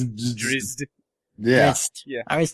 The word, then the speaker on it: Drizzt: the way, it amuses me that no one can pronounce that name, apparently. Drizzit. Drizzt.